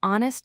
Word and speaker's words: honest: Similarly, honest starts with H, which is silent, so we say an honest man.